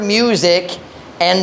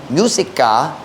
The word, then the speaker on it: musika: balay, siya nakadungog sa musika. Do you pronounce it as musica or musika?